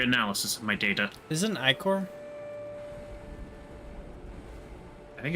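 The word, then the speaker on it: ichor: Icor or Iker. American English often pronounced as Icor. I will continue to say Icor.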